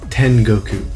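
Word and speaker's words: 天国: Because there is a way to pronounce it, and it's not .59. It's Tengoku, but yeah, I'm sure you knew that one already, right?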